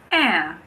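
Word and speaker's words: heir: There are also a few words that start with a silent H. For example, air, honest, honor, hour.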